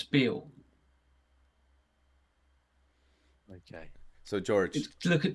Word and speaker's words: Bew: You'll see it as built like that, and it's actually pronounced as Bill.